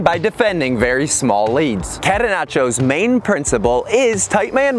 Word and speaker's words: catenaccio: The pronunciation is catenaccio, and the catenaccio soccer term is an Italian word for door bolt.